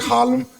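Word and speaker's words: Haarlem: a harlem too it's it's spelled with two A's you know I mean it was like hlem that's how you say it you know what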